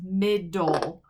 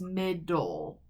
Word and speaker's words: middle: this word it's just mid-dull we don't say middle e it's just full so this e is silent and it's just mid-dull k-n has a silent